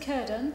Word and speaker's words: Cirdan: Well, we pronounce it Cirdan with a hard C.